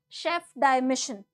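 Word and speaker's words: Chef de Mission: Satya prakash sangan as the now this is pronounced as Chef di Mission okay chief d missions basically the chief of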